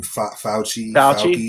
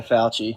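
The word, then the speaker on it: Fauci: Fouchi. Yeah. Yeah. Fouchy.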